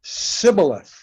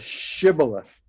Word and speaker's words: shibboleth: they couldn't do it they would say sybileth instead of shibboleth and they killed them